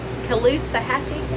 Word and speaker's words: Caloosahatchee: Cape Coral and got over here to the Caloosahatchee, is that how you say it?